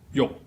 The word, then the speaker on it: 欲: In Middle Chinese or Cantonese, it also fits the pattern, but it's pronounced as yok. It's an entering tone that ends with a K.